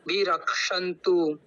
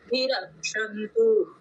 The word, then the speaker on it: रक्षन्तु: जी बहुत अर और यह जो रक्ष है ना वो भी हमको ताल भी के साथ में करना है अभी आप धीरे धीरे अभ्यास करेंगे तो हो जाएगा रंतु तो जो वो क् है ना तो उसको भी हमको स्पष्ट उच्चारण करना है और बाकी का बहुत